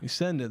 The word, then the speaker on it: Nusenda: Um but so it's it's going to be the pit uh powered by uh Nusenda. Nenda. Nenda. That's how you say it.